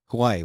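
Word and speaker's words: Huawei: and explain to me how to say it Hawaii watch uh it is it is a beautiful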